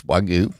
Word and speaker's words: Wagyu: I saw that video when you did that Wagyu. Is that how you say it? Yes, Wagyu.